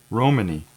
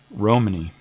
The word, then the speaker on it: Romani: I'm gonna look up that pronunciation of that word so I'm getting it right. Let's see if they've got it here. Oh, they got a whole thing here. Romani. Romani, okay.